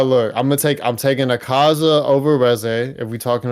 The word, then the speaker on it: Akaza: Uh, look, I'mma take I'm taking a Kaza over res. If we talking about main main uh villains of the movie, I'm taking say the syllables correctly. Akaza, not Aaza.